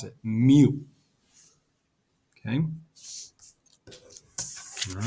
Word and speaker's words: mu: lowercase greek letter called mu that's how we pronounce it mu okay all right now sometimes average is very